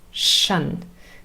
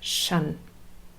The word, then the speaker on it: tion: And there are many words in English that end in tion, and the pronunciation is shun, with a sh fricative, unvoiced, shun.